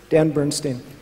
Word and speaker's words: Dan Bernstein: end would be good and what's the exact pronunciation of your name dan Bernstein okay everybody give Dan a huge round of